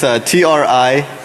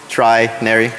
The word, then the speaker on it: Trinary: It's Trinary, Trinary, like 3 naries. All right, so Trinary Trinary software is a